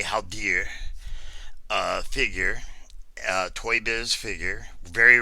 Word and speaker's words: Haldir: and showing of the haul dear how dear or halter depending on you want pronounce I I say how dear figure toy biz figure